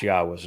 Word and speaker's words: Yahowah: I'm the first to correctly not only pronounce Yahwa's name, but to prove that the pronunciation of his name as Yahwa is accurate and reintroduce you to your God.